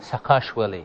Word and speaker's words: Saakashvili: very forward-looking chief executive officer how do you pronounce his name Saakashvili President Mikhail Saakashvili akash Willie yes yeah and he's a very forward-looking chief